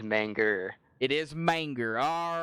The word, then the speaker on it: Manga: pronouncing his name wrong is it manga or manger it is manga it is manga all right I don't know how we'll have to wait and see yeah I think I said manga but I'm not sure